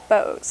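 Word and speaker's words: Boos: With me right now is Carol, I'm going to say Booz again because of the way your name is spelled. That's right. But it's actually Bose. Bose, B-O-O-S.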